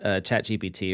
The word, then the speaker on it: ChatGPT: So fun fact about the word ChatGPT or the term ChatGPT. In French, it's pronounced chat GPT, which means kitty, I have farted.